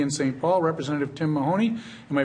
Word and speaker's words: Mahoney: Paul, Representative Tim Mahoney. Am I pronouncing that correctly? You are. The reason I ask that is there are some lawyers of my acquaintance who tell me that it's pronounced Mayonnaise.